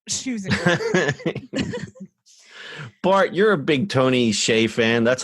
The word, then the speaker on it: Tony Hsieh: that also sells shoes Bart you're a big Tony Hsieh fan that's how you say his name right